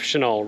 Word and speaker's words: Chenal: And you may be thinking of Chenal Road, but that is spelled C-H-E-N-A-L. Chenal Mountain is spelled S-H-I-N-A-L. Different Chenal. Almost to the top.